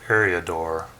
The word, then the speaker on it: Eriador: card review of the wastes of area door that's how you pronounce it waste severia door anyway let's take a